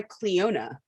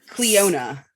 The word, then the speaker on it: Clionadh: You should try Cleona Cosmetics. I think it's CLIOANADH. There's like a very interesting way to spell it. It's like an Irish spelling.